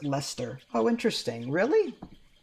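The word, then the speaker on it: Leicester: in um it's pronounced Lester oh interesting really so the EI and the C are silent that's so weird all right Lester what a weird way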